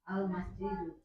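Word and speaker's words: المسجد: Kalau dibaca dun begini benar apa salah Bu Penta? Kenapa salah? Karena ada alif lam. Oke, Masya Allah. Sekarang ulangi Bu Penta. Al-masjidu.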